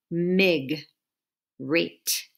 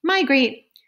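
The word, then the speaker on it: migrate: there's nothing closing it if we put the G with it if that would had been part of the first syllable it would say big rate but it's not it's mi is the first of all my my great when animals move from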